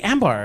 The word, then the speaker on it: Ambar: That's why he's like, just say Ambar. And I'm like, okay, Ambar. If I said it right, it's Ambar. But I can barely roll my R's, which is so Ambar.